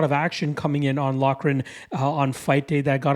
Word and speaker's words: Loughran: Loughran, I believe, is how at least you say the last name, so I'll be sure to get that right here during this segment.